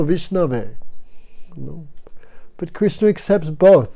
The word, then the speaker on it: Vishnu: the flower to vishnu they say visnaya and a learned person says no vishnu no but krishna accepts